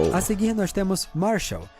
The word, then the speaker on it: Marshall: Nome é esse que tem uma pronúncia igual a martial arts, artes marciais. Ah, é de luta. Marshall de marcial.